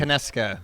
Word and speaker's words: Konieczka: We're here with, and I want to get the canonical pronunciation of your last name. Konieczka.